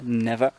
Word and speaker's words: never: donc cet adverbe, « never ». Donc le « er », tu peux ne pas le prononcer, « never », tu ouvres ton « en e »,« never ».« Give up », c'est un phrasal